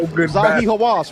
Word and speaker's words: Zahi Hawass: I keep forgetting how to pronounce his name. Hawass? What's his name? Man, Hawass. Zahi Hawass, right?